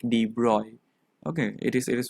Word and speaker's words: de Broglie: the people's um call call this thing that de broglie is not the actual pronunciation they they they pronounce it more perfectly that is d roy and and we we we think it is